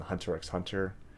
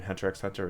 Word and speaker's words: Hunter x Hunter: Do you call it Spy X Family and Hunter X Hunter, or do you call it Spy Family and Hunter Hunter? Just curious. It's oh hey Romanoff Blitzer. Yeah. From what I heard, the X's is silent, but I just see it.